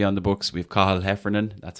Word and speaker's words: Cathal Heffernan: We have Cathal Heffernan. That's how you pronounce it, folks. Cathal Heffernan on the books.